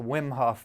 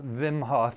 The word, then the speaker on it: Wim Hof: before anyone in the world knew about the wim hof method which is fascinating if you haven't heard about it it's actually pronounced vimhoff he's from belgium and he's broken like 27